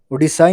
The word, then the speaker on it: Odisha: Okay, so instead of Ra, you should pronounce Da. Odisha in 1st November 2011.